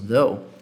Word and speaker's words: though: Esse TH do inglês é um som que a gente não tem no português, a gente não tem esse som na nossa língua.